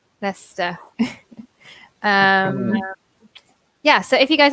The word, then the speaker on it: Leicester: Soleil knows definitely I'm from Leicester in the UK which in itself is quite difficult to pronounce yes oh my goodness also change Shia but if it's in a word we did see Shia Worcestershire Yorkshire as a classic it is yeah that's a Lester Lester yeah so if you